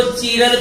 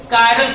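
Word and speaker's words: chiral: कई लोग इसको चीरल भी पढ़ता है, चीरल कार्बन, या फिर इसका कायरल कार्बन भी प्रोनाउंसिएशन होता है। तो हम इसे पढ़ते हैं बच्चों कायरल कार्बन।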